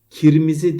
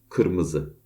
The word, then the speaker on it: kırmızı: Kirmizi değil kırmızı, sıcak değil sıcak vesaire.